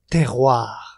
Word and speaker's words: terroir: to pronounce it. Okay. The word is terroir.